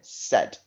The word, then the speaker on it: said: It makes an E sound, but the A and the I make it.